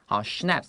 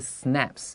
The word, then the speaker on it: schnapps: the food down 就是 drink 就是喝的意思他们会搭配什么东西来喝呢 with schnapps schnapps 然后老师这边特别的发音的时候它不是 snaps 它这个 s 是 s 它是发成 sh 的声音就很像是那个 Budapest 跟 Budapest好，他们的这个地方，它的发音其实是有点变化的。不管它这个东西呢是什么，逗号，an alcoholic Swedish drink，好，它是这种烈酒，而且是这种瑞典的烈酒。And dance to traditional songs，听着这种传统的歌谣，然后一边喝酒，感觉很欢乐的。